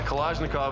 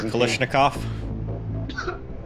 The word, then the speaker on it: Kalashnikov: Got a Kalashnikov over here. Kalashnikov? Putting the emphasis on the wrong syllables there, Kalashnikov.